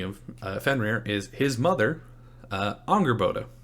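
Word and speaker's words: Angrboda: fenrir is his mother anger boda or anger boda if you're particularly anglo in your pronunciation so anger boda is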